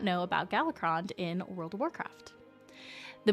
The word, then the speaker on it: Galakrond: How do you guys say his name? Is it Golacron? Is it Golacron? No, is it was I saying it right? You guys, I'm like, okay, I'm gonna be honest with you. I'm like yeah, Galacrond. Was I saying it right? Galacrond? Yeah? Nailed it. Okay, thank you.